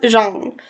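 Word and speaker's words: Zhang: It's pronounced Jeang. So, the sorrows of others by Ada Jang.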